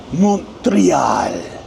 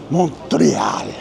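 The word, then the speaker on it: Montréal: And you got to say it with that emphasis. Montreal. See, that's what the accent on the e that that's what that means. Montreal.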